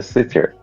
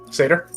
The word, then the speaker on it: Satyr: As reading through, he notices the sitter, or how do you pronounce it? Sitter? Satyr?